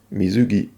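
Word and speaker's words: 水着: Manque de chance, le mot suivant ne se prononce pas quelque chose, mais mizugi.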